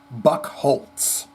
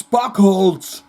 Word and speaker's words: Bucholtz: And I believe Bucholtz is pronounced Buck Holtz. And that's what he told every damn kid in school from 1 to 12. It's buckthold.